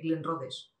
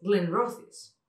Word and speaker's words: Glenrothes: que vi la marca, dije Glenrothes. ¿Por qué? Porque te enseñan en inglés T-H-E-D. Glenrothes, pero no, es Glenrothes.